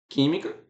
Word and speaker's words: química: Ó, química é uma palavra proparoxítona, por quê? Porque a sílaba forte é a antepenúltima, né?